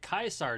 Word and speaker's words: Caesar: name is carl gloria caesar has sent me as an emissary to the great khans as a token of our alliance um you're supposed to pronounce it kaiser dude did you forget